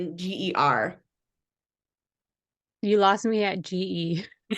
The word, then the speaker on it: Geissinger: It's Geissinger.